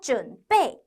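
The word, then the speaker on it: 准备: 단어까지 정리해 봤어요 준비하다 준 빼 준 빼 준비 준비 어때요 이거 우리나 말이랑 발음이 비슷하지 않나요 자 이번 시간에 정리하신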